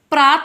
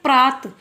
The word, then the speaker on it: प्रातः: क्या बोलते हैं? प्रात। जबकि वो प्रात नहीं होता है, वो क्या होता है? प्रातः।